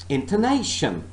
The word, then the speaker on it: intonation: internation all right internation so this word has got four syllables and i'm not stressing all the syllables i'm not stressing all the parts of this word i am only stressing one part of this word and i am saying and i'm pronouncing this word as intonation distress is a nay